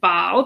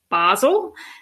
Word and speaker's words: Basel: you um are you you pronounce it baal because that that's the french pronunciation um i think most english speakers probably pronounce it basel yeah it's interesting because